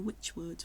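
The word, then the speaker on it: Wychwood: And my mind goes to the Rollright stones, which are in Oxfordshire, not far from the Witchwood, which is spelled W-Y-C-H, not the witch you have at Halloween.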